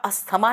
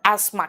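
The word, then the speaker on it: asthma: कहते हैं ना उसको इंग्लिश में बेटा अस्थमा नहीं कहते हैं उसको एस्मा कहते हैं टी एच वहां पे साइलेंट है है ना आप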